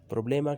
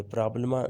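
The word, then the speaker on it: problema: لیے ہوگا نانچے پروبلیما۔ پروبلیما کا تلفظ بھی آپ ذرا درست طریقے سے پڑھا کریں، پروبلیما، یہ پرابلما نہیں ہوتا۔ بعض لوگ اسے انگلش میں پڑھنے کی کوشش کرتے ہیں پرابلما، لیکن یہ ہے پروبلیما۔ کوئی خواہش نہیں ہے،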